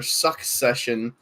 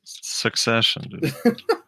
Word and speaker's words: succession: valve secession was a suck session apparently people keep complaining to frosty that I'm not pronouncing it properly it's son session so it's succession that's I think that